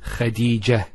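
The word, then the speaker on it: خديجة: I actually pronounced the ta marbuta as a ha. Medina, Khadija. Now if I stop on the ta marbuta, it's actually pronounced as a ha in both cases.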